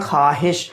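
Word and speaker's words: خواہش: हैं चाहिए हम बोलते ख्वाहिश मगर लिखने में हम्म उसको लिखेंगे ख्वाहिश मगर पढ़ने में हम्म उसको ख्वाहिश ही पढेंगे तो यहां पर वायु लिखा हुआ रहेगा मगर वो साइलेंट रहेगा तो दोस्तों अब मैं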